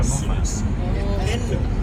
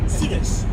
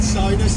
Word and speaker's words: Souness: Souness, Souness, Souness. Who really knows? But yet again, who really No one has ever said soundness until you just said it.